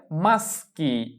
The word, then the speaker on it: maschi: পুরুষেরা একের বেশি পুরুষকে বলা হয় maschi maschi।